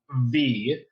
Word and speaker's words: V: their names yeah so one is V as in V like the letter yes one is RM